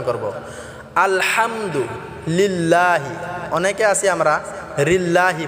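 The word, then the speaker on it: الحمد: আলহামদুলিল্লাহি রাব্বিল আলহামদু আল হামদু অনেকে আছি আমরা আলহামদু বলি আল এটা আমরা আলা অনেকে বলি হাম এটাও আমরা হাম হবে না আলা হাম হবে না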